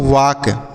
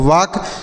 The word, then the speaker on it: walk: अगला देखिए WALK तो इसे हम पढ़ते हैं वाक। वाक नहीं पढ़ेंगे, वाक पढ़ेंगे। यहाँ पर यल का उच्चारण नहीं किया जाएगा। तो वाक क्यों नहीं किया जाएगा?